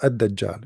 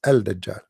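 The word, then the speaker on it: al-Dajjal: say add that job because in Arabic here there is L there is L but they are trying to suppose they to teach you how to pronounce it so at that job they make it shorter but the fact it is al dajjal so we'll come to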